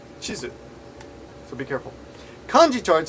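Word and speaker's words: チーズ: pronounced right cheese right cheese and map is pronounced chisu so be careful kanji chard says Hani Dango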